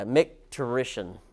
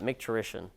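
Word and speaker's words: micturition: of the page yeah MC terish is how you say that MC terish I swear I had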